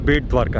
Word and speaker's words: बेट द्वारका: लेकिन एक्चुअल नाम इसका बेट द्वारका है, क्योंकि सुदामा जी जो थे यहाँ पर ही भगवान कृष्ण के लिए भेंट लेके आए थे, गिफ्ट लेके आए थे।